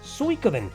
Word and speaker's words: Suikoden: it's suicoden others suikoden in reality it's actually pronounced suikoden and you can tell that from the many